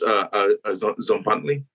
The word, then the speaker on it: Tzompantli: the name here but Z an Z anley is that correct yes it's close enough yeah it's zley gotcha okay so how